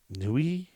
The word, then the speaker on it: nuit: the apocalypse how do you look up french pronunciations you just look them up like google them your mom googled all right newey all right i'll look up newey right now